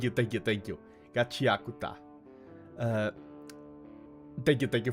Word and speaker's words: Gachiakuta: I was not expecting to enjoy it that much and not only Gachiaka. Okay. Okay. Thank you. Thank you. Thank you. Gachiakuta.